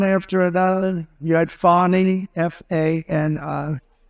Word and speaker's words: Fani: But one after another, you had Fani, F-A-N-I, which is usually pronounced Fanny. And she added a little action to it, Fani.